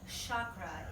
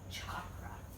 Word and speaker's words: chakra: So chakra is a westernization of chakra, okay?